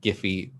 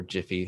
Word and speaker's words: Giphy: the newsletter and that giphy or jiffy however you want to pronounce it dot com is a